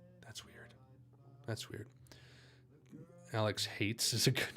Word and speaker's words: Haitz: Which, by the way, for anyone wanting to know, Haitz is how you say it.